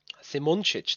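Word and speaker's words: Simončič: Simoncic, that is the real pronunciation of that name.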